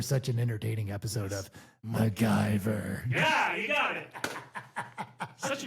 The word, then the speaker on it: MacGyver: It's MacGyver. Like Patty and Selma on The Simpsons.